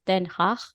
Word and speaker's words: Den Haag: Well, actually, Yeah, in Dutch, you pronounce it Den Haag, Den Haag.